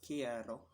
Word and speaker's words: quiero: Um, in other words, we'll simply say quiero, pronounced quiero, which means I want.